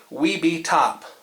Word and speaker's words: Webetop: I was a little unsure about the pronunciation that they intended for this, but I believe the correct way to say it is Webetop.